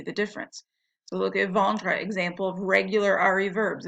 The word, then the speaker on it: vende: So now we have je vende, tu vends, il vend. These actually sound different than the present tense. The present tense ends with S, nothing, and they're pronounced vend. This one you pronounce the D, vend.